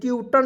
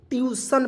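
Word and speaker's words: tuition: है चलिए उसके बाद टी यू आई टी आईओ एन टूटन नहीं पढ़ेंगे इसे दोस्तों बहुत सारे लोग ऐसे टूटन पढ़ बिल्कुल गलत है ये तरीका आज के बाद से आपको नहीं प्रयोग करना है ठीक है ट्यूशन पढ़ते हैं दोस्तों ट्यूशन देखिए ट्यूशन देखिएगा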